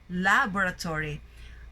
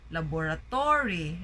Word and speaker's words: laboratory: So you notice that the stress is in the first syllable, laboratory. Sometimes we hear people say laboratory, right? So they put the stress in the to, laboratory. So that's not the accurate way of saying it.